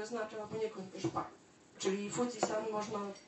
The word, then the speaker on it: Fuji-san: I to jest nieprawidłowe czytanie znaku tego ostatniego. Tutaj Państwo widzą taki jakby trójzor, to jest znak na górę. I on ma rzeczywiście czytanie Yama, ale zupełnie w innych okolicznościach. Bo w tym czytaniu, kiedy dołączamy ten znak do nazwy góry, czy to Fuji, czy inna, to czytamy go jako san. Czyli mamy Fuji-san.